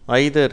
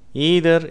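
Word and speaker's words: either: effect எபிசியன்ட் ஐதர் ஈதர் ஆங்கிலேயர்கள் இதே வார்த்தையை ஐதர் என்று உச்சரிக்கிறார்கள் அமெரிக்கர்கள் இந்த வார்த்தையை ஈதர் என்று உச்சரிக்கிறார்கள் நைதர் நீதர்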